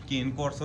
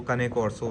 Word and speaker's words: Cane Corso: Female है और जिसको इसको पाकिस्तान में हम केन कोसो भी कहते हैं या इंडिया में भी केन कोसो इसको बोला जाता है। बट जो सही इसकी जो प्रोनाउंसिएशन है वो कनेकोरसो है।